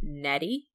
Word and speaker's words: Nnedi: author's name is pronounced nettie nutty a chorophore a chord form netting a chord for like eddie with an n on the front we're keeping that